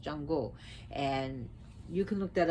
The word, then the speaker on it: Xango: There's actually a religion called Xango, which is pronounced Chango.